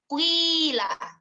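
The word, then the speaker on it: قيل: Maka ketika qila dibaca dengan ismam, maka membacanya kuwila, kuwila, kuwila.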